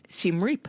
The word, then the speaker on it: Siem Reap: Siem Reap.